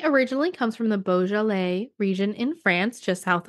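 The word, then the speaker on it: Beaujolais: world from Australia to California now if it's boal it's likely to be labeled as the region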